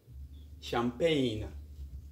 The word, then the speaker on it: champagne: on to our lesson g is silent when it comes before n example champagne a champagne is an